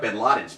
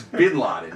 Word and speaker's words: Bin Laden: were like one of Ben Laden's people." And Larry goes, "How do you say his name? Do you say Ben Laden?" He goes, "It's Bin Laden." He goes, "Ben Laden's like a Jewish name."